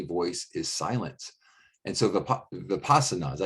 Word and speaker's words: Vipassana: And so Vipassana, is that how you say it? Yeah, Vipassana. Vipassana.